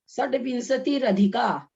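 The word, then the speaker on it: षड्विंशतिरधिका: षड्विंशति रधिका, रधिका बोला जाएगा। का मतलब क्या हुआ ये नहीं आ रहा मुझे। षड्विंशति रधिका, तो भाभी विंशति के बगल में जो विसर्ग है उसका र बन गया है, अधिका का उसमें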